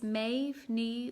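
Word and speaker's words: Méav Ní: lovely chatting and uh oh anka i did pronounce my name but i'll say it again for you it's maeve knee welcome and what do i miss about performing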